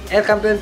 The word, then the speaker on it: El Campeon: And then El Campeon, ay aliwala man, El Campeon Pigeon Feeds, yun ang tamang pronunciation mga kalapati.